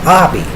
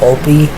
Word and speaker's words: Obi: next strap called the F strap is for Obby and but some people misspell their name and call them Opie which I don't blame because it looks like